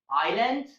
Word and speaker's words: island: There are only two words in English in which the letter S is silent, and those two words are island and isle.